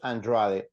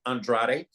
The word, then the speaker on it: Andrade: I love the fact that you pronounce it Andrade. He does not. You know, they say Andrade. I think that's obviously an Americanization of the name.